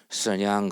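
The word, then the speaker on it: 沈阳: 중국 원음으로 발음하면 맞는지 아닌지 모르겠지만 선냥 그러죠.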